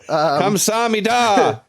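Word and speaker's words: 감사합니다: So, Kamsahamnida. That's how they say it.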